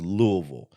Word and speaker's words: Louisville: first cultural artifact is Louisville which apparently is how you say it Louisville like you got a mouthful of marbles I i' never say